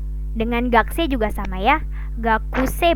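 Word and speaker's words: 学生: Gakuse bacanya, tulisannya gakuse. Kalau dilafalkan menjadi gakse, gakse. Jadi U-nya melebur.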